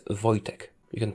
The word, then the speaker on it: Wojtek: the achievement gained Wojtek s commander it's not Vortech it's not Vash tag it's a Vojtech you can pronounce it as boy as an vo y - tech as in technology Wojtek that is as close as you'll get to